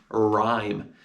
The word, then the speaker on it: rhyme: It's got the letter H, which you don't hear, and it's got a silent E on the end.